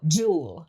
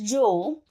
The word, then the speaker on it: Jules: hot French model named Jewel. Now, his name is spelled Jules, J U L E S, but he is very adamant about the S is silent. So, Jewel. His name is Jewel.